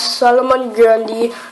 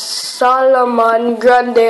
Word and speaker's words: Solomon Grundy: Don't pronounce Solomon Grundy as Solomon Grunde or Grande.